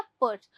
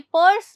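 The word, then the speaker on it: purse: ध्यान रखिएगा इसमें आर की साउंड नहीं आती है। यह पर्स नहीं होता। यह होता है पर्स। ठीक है? पर्स। तो बहुत ही क्विक साउंड है आर की या फिर ना के बराबर ही है।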